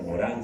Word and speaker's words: Morin: Asimismo, un filósofo francés representante del llamado pensamiento complejo, Edvard Morin, o Morin se pronuncia en francés, entiende la educación como